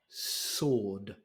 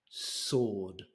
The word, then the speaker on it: sword: say it it's a sword sword how would you say the word if there was no W you'd say sword I imagine no so